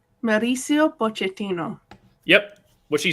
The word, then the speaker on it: Pochettino: Again, how do you pronounce his name? Mauricio Pochettino. Yep, what she said. So, Pochettino.